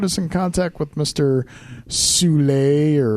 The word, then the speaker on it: Soule: Soule, or apparently his name is pronounced Soul. Sorry. Was I the only one who thought it was pronounced I thought it was Soule too, man.